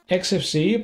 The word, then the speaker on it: Xfce: XFC, pronounced as four individual letters, is a free and open-source desktop environment for Linux and other Unix like operating systems.